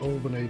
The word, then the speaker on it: Albany: so we've got albany i think you guys pronounce it albany don't you albany even though there's only one l i can have myself